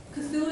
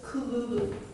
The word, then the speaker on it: Cthulhu: And so, fun fact, Cthulhu is not how you pronounce it. You pronounce it as Kululu. That's in the ancient alien tongue, if any of you speak it.